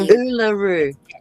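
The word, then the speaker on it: Uluru: Oolaroo. Oolaroo. I didn't want How do you say that again, John? Oolaroo.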